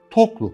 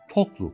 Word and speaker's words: Toklu: Gümüş de Gümüşhane'nin Toklu kasabası. Toklu'nun başka bir anlamı olabilir. Bilmiyorum. Açıkçası ama ilk hecede iki heceli yer ismi olduğu için Toklu kasabası diye.